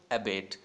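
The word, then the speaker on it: abate: अबेट बोलते हैं इसको, और इसको कंफ्यूज नहीं करना है इस वर्ड से, that is also अबेट एंड इसकी स्पेलिंग होती है ABET.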